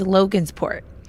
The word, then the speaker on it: Logansport: How did she say it? Logansport? Yeah, that wasn't right. Incorrect pronunciation from Google Maps. What she meant to say is Logansport, as in Logansport, Indiana.